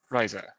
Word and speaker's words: Ryza: me to name my friend again uh ryza Riser okay thank you is it spelled like I think it does it is a